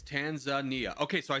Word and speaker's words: Tanzania: It's Tanzania.